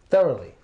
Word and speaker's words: thoroughly: special in its pronunciation okay this is usually pronounced thoroughly thoroughly there Li ah thoroughly did you do